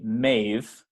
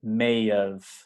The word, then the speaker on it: may have: have may have been be careful that you don't say maeve which is a name in english but may of so it almost sounds like may of right but it's together so you hear this little sound in between maeve there may have